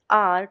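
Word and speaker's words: hour: 10थ question बोलता है I need dash आर to complete this आर। देखो इसमें अगेन जो आर है इसमें एच क्या है हमारा? साइलेंट आ ओ की साउंड देख निकल रही है बाहर।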